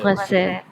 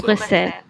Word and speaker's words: Bruxelles: The train to the destination of Brazil will अच्छा ये leave जो ब्राज़ील से ये ना इसको मुख्तलिफ प्रोनाउंसिएशन है इसको कहते हैं ब्रुसेल Bruxelles. ब्रुसेल Bruxelles.